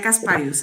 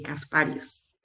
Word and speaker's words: Casparius: Lo estás pronunciando muy bien. María Casparius era mi madre y mi apellido es así, Casparius.